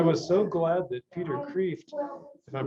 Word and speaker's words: Kreeft: And you know, I was so glad that Peter Kreeft, if I'm pronouncing his name right.